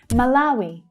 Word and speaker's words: Malawi: Malawi. Malawi. So the middle syllable there is the stressed one, the strongest syllable.